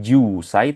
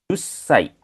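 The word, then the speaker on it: 十歳: Jadi enggak panjang enggak juusai tapi jusai. Jadi ada penekanan di huruf S-nya seperti itu Minasang ya.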